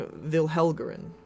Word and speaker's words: Vilhelgren: name yet, but the king's name is King Vilhelgren.